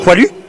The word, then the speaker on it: Poilu: Poilu. Poilu. It's not poi. It's pois. Poilu. See it as PWA.